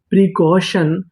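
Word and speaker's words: precaution: प्री सी ए यू अब आपको यहां पे ध्यान देना है एयू पे ये भी हमारा कोड है ए यू को पढ़ते हैं अ टी आई यू एन ये भी हमारा कोड है टी आई यूएन को पढ़ते हैं शन तो पूरी मीनिंग प्रीशन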